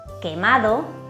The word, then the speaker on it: quemado: La Q suena como una K fuerte y siempre va seguida de la letra U. Solo se usa con las vocales E e I y la U es muda, es decir, no se pronuncia.